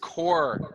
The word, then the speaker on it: Corps: s is silent people the s is silent core but there's yeah you